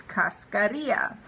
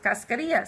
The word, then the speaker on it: cascarilla: One thing that really amazes me is that people do not use cascarilla. How do you spell that? C-A-S. No, am I right? C-A-S-C-A-R-I-L-L-A.